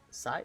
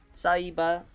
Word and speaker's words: Saiba: This one is uh uh Sai. No, it's not Sai. It's a Sai. Oh, Saiiba.